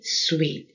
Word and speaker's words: suite: Hospitality suite. 한 번 더. Hospitality suite. 이거 hospital 병원 아니에요. hospitality라고 하는 것은 상대방을 기쁘게 대접, 환대해 주는 거고요. sweet, 달콤한 하고 발음이 똑같아요.